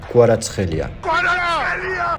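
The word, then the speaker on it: Kvaratskhelia: ou plutôt entre V et ou donc on prononce qualatrelia linguistique mis à partatia est bien évidemment la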